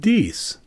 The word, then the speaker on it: dix: which is the French spelling for 10 and pronounced diese the reverse also has both French and English